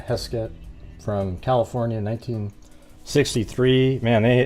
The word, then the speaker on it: Heskett: That's the case of, I think it'll be interesting though, but it's Doreen Heskett, I think is how her name is pronounced. Let me make sure. Yeah, Heskett from California, 1963.